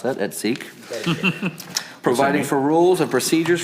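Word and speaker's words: et seq.: It's adding new sections 110.300 et seek, and yes, I looked up to how to pronounce that, et seek.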